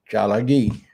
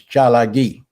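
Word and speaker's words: Tsalagi: So I'll leave you with these words in Chalagi. And see, the white man couldn't even pronounce it. Call us Cherokees. It's Chalagi.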